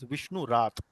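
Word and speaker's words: Vishnurata: known as Vishnu rat so the correct pronunciation here is M rat and rat rat actually means one who has been protected so he was protected by Lord Vishnu that is why he's known as Vishnu rat and then by the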